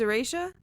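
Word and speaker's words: Aretia: Why Zayden would always choose Erasha? Is that not how you say that? No, it is. It's just... Did I pronounce it wrong?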